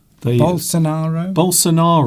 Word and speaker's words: Bolsonaro: So it would appear that balance what's the what's the other guys that I always mispronounce his name, the whole scenario Bolsonaro.